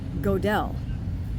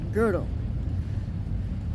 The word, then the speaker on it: Gödel: So Terrence makes the gross error calling him, "Kurt GO-DELL." Okay, the problem is, it's "G O" with the umlaut [ö]. That's why it's pronounced, "Kurt GUH-DLE."